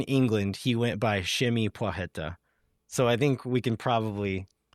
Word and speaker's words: Płacheta: So Przemysław, and the last name Płacheta. So it seems like in England he went by Przemy Płacheta.